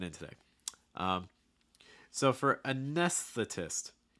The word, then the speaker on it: anesthetist: today um so for anesthetist making sure you can get the first part done first okay a nes get that s sound really clear and then transition to the th so again what i've